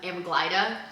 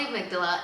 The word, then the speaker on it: amygdala: If you watched one of our old episodes, I used to pronounce amydala as amagglida for a really really long time. But it's called the amygdala.